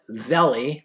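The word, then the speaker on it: Zelle: The author's name is John Zelli. I think it's actually pronounced Zell, but I pronounce it Zelli.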